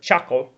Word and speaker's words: chacal: And in Spanish, it's a similar word, chacal, C-H-A-C-A-L, chacal, right? And it's just las sílabas de chacal.